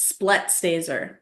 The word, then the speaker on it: Splettstaser: name yeah yeah um it's split staser it's very German as I'm sure you